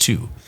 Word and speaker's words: Thy: is called two it's pronounced thy but it's pronounced two the natives here Northwest are notoriously understated and